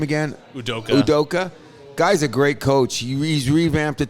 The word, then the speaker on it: Udoka: how do you say the coach's name again udoka udoka guy's a great coach he's revamped the